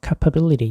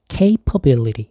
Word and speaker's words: capability: 흔히 capability 이렇게 발음하시는 분들도 있는데 아니고요. capability 이렇게 얘기를 하셔야 돼요.